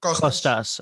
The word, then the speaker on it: Kostas: Is it Kostas or Kostas? How do you actually pronounce it? The whole name is Konstantinos, but it's too difficult for anyone to pronounce. So the name is Kostas. Kostas. What you said sounds the same to me. The two things you said, Kostas. Kostas or Kostas? The second one, Kostas.